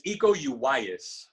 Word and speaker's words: Iko Uwais: And this guy Iko Uwais, am I pronouncing it right? It's Iko Uwais.